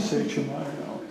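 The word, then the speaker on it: Sachem Iyanough: Does anybody know how this is pronounced at all? Anybody know who this person is? Iano. Who is it? Sachem Iano.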